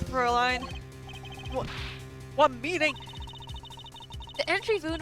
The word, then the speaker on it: Fräulein: Fräulein. Fräulein. Fräulein. Fräulein. Okay. You're absolutely correct, Fräulein.